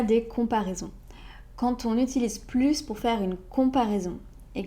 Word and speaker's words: plus: Dans une phrase affirmative, on prononce le S comme plus, sauf si c'est une comparaison portée sur un adjectif ou un adverbe.